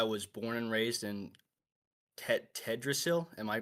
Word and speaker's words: Teldrassil: I am a night elf, and I was born and raised in Tedrasil. Am I pronouncing that right? The Teldrassil.